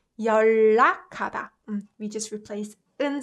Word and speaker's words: 연락하다: Do you guys notice that I pronounce it like 연락하다? So this combination we learned, right? 윽 with h produces k, right? So this is not difficult to understand, but this one is the new one. So when 은 sound is combined with l sound, what we do is we tend to kind of make 은 sound into 을 sound to make it more comfortably pronounced.